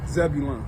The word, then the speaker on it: Zebulon: Zebulon.